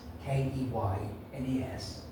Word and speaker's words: Keynes: And this woman stood up and said, "Oh, excuse me, I know it's spelled Keynes, Keynes, but here in the village, we prefer to pronounce it Keynes.